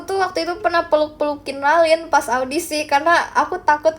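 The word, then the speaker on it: Ralyne: Aku dulu bilangnya Relin. Relin. Relin. Enggak tahu kenapa aku bilangnya relin. Kayak dia bilang Ralin, tapi aku lihat nama dia tuh R A L Y N E.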